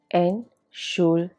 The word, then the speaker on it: Entschuldigung: Entschuldigung. Here also, T is silent.